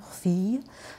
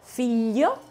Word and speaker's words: figlio: Sì, 小心发音. Il figlio di mio figlio...Non è figlio, non è alla francese, figlio, è figlio, io, figlio, è mio nipote.